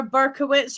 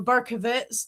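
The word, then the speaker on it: Berkowitz: So, David R. Burkowitz or Burkovitz, depending how you want to pronounce it, being that it is an Eastern block spelling, also known as the son of Sam.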